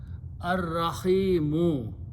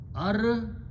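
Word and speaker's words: الرحيم: Again, it will kill, Re will kill the sound of Lam. It will add twice the Ra itself, so it will be pronounced Ar-Rahimu. Final word is Ar-Rahimu.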